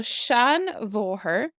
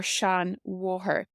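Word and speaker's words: seanmháthair: our informal one so Shan voher or Shan War now this MH is pronounced like a v in Monster like a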